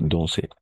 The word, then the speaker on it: danser: Danser. La AN, en général, le AN, on va prononcer comme on, d'accord? On va nasaliser, danser, d'accord? Comme ça, danser.